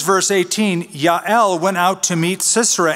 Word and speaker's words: Yael: That's how you would pronounce it, Yael.